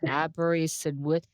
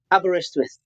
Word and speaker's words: Aberystwyth: I can't even pronounce it. It's Aberystwyth. How do you say that? Aberystwyth.